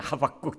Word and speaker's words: 하박국: 호박국. 호박국이 아닙니다. 하박국. 제가 오늘 발음이 이상하네요.